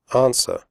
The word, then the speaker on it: answer: close the door close answer the W sound is silent answer do not say answer women the O in